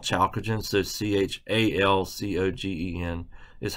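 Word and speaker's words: chalcogen: that is called the necktied family 6A is chalkogen if you notice the first element in 6A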